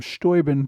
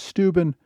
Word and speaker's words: Steuben: of stubin New York now you may notice I've pronounced him stoin throughout this podc C and the modern pronunciation is stuben based on what I've read in the 18th century his name was pronounced stoin if you would like